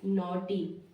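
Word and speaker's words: naughty: तो एन ए यू जी एच टी वाई से क्या हो गया यहां पे नॉटी क्या हो गया नॉटी यानी कि माय फ्रेंड्स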